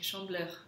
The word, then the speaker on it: Chandeleur: Но очень часто произносят как chandeleur. Потому что носовой звук, мы не говорили еще про носовые звуки, но воспринимайте их как гласный. И в таком случае у вас это «э» проводится в серединке.